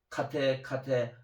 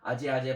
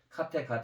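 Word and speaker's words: गते: 우리 한국말 발음으로는 아제 바라제 바라승아제 보디사바 이런 식인데 이거는 나중에 얘기했지만 올바른 그런 발음법이 아니에요. 상스크트는 정확히 해야지 우리 차크라 우리 에너지를 갖다 진동시키거든요. 그래서 카테가 돼야 돼요.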